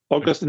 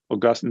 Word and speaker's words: Augustine: Augustine is a city in Florida. Augustine is a saint of the church.